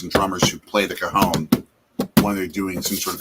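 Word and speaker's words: cajón: it's called a cajon i think it's pronounced cajon it's not cajun different spelling and you can actually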